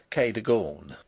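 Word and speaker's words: Cadogan: as it may appear my housekeeper was called Kagan a name made locally possible by being pronounced Kor only those who have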